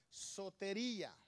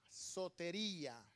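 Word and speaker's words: σωτηρία: Salvación, la palabra que encontramos allí en el griego es sotería. Se escribe S-O-T-E-R-I-A, sotería.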